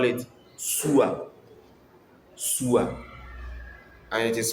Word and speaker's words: Sua: In Nzema we call it Sua. Sua. And it is spelled as S U A Sua.